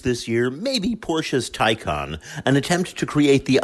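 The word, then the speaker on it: Taycan: of 162 mph you may have heard people pronounce the madeup name takan but it's Porsche's car and Porsche says tyon other electric vehicles the show will include a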